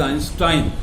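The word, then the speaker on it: Einstein: इसी तरह से यही रूल आइंस्टाइन जो हम गलत बोलते हैं, सॉरी आइंस्टीन बोलते हैं, that is नॉट आइंस्टीन, that is आइंस्टाइन। यहां पर उसका अपवाद हो गया, ये आइंस्टाइन होगा, आइंस्टीन नहीं होगा, लेकिन वो क्वारंटीन होगा,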